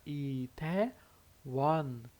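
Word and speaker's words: 이태원: Então vai ficar Itaewon, Itaewon, com som de N aqui no final.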